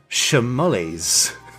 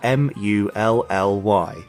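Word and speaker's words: Schermuly: a british company called shamollies yes i'm going to say it like that because it's sort of nice to say but it's s c h e r m u l l y mully yeah yeah exactly i'm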